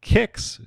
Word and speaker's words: Qix: They're going to start off with the game called Kix, spelled Qix, and I only knew it was called Kix because EGM told me that's how you pronounce it.